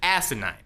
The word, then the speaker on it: asinine: if you that's right I said asinine with an emphasis on the first syllable it seems absolutely ridiculous